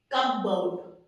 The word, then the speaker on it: cupboard: Cupboard, no, P आपका silent रहता है, it's cupboard.